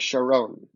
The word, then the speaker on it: Charon: I'm picturing Charon, but I don't remember how they pronounce it. You nailed it. I think it's like Sharon.